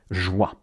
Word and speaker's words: joie: First, you want to say the word for joy, joie. Joie. So you just say wow, the English word wow. You cut it short.